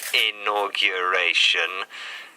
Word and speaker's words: inauguration: so our question was how many syllables are there in this word inauguration inauguration how many were there well we look on Facebook quite a few people thought it was four but in fact there are five syllables a no Q R a tion so well done to